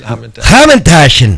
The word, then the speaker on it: Hamantash: Hamantash, is that how you say it? Hamantash. Okay. You gotta spit a little at the end.